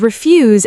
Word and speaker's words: refuse: And refuse as a noun is completely different. Like refu pronounced differently means rubbish or waste. like refu collection means rubbish collection. Same spelling, completely different pronunciation and meaning.